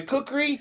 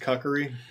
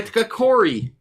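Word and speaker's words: kukri: and I take my cookery and I go down on this guy. I believe it's pronounced kakari. His his cookery. It's a pan. My cookori. my kakori.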